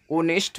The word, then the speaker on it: honest: So question number five, dash dash dash honest man. Starting letter is H, but you can pronounce honest man.